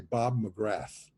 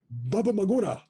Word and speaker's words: Bob McGrath: in Japan I mean they couldn't say Bob McGrath so they called him Baba Magura Baba Magura that was his name in Japan Baba Magura so ever